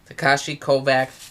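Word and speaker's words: Takeshi Kovacs: Takashi Kovac Tak.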